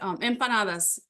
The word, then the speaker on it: empanadas: But empanadas, that's how you pronounce it.